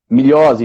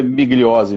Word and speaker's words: Migliozzi: É assim que pronuncia, Positivo. doutor? Milhose, italiano. Mas aqui no Olha. Brasil é migliose mesmo.